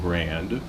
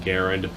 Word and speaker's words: Garand: I'm just going to call it the M1 Garand because that's the Army's pronunciation of it. Although the guy's name, he said himself, it's pronounced Garand. I'm going to call it Garand because that's what most people know it as.